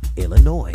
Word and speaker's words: Illinois: but don't say it boy when mentioning Springfield Illinois man I meant to say Springfield Illinois oh much better man yeah all right Jefferson